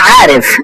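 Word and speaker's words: عارف: আমি জানি এটা বলা হয় আনা আরিফ। আনা আরিফ আমি জানি। আনা যদি আনা আরিফ আনা আরিফ আনা আরিফ আরিফ এটা আইনটা উচ্চারণ করবেন সুন্দর করে।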